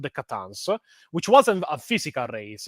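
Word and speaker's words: C'tan: to be a race called the Catans, which could be actually pronounced as Satans, which all You the get that whole thing. Christian lore about Satan and such. But yeah, I call them the Catans.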